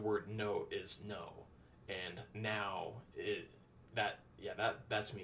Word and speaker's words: não: But in Portuguese, it's now, which it's pronounced the same way as N-O-W in English, like now, right now.